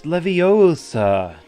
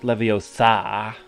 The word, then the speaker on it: Leviosa: you're saying it wrong it's Leviosa not Leviosa if only Hermione